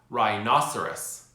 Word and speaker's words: rhinoceros: Now, let's practice saying these words together in sentences so you can get used to not pronouncing the letter H.